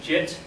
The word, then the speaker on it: git: using a tool called get some people pronounce it jit and the point of